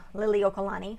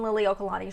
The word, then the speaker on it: Liliuokalani: another video honoring queen liliuokalani and yes i am pronouncing that correctly i grew up in hawaii so yes this is a video honoring the queen lily okalani she was the final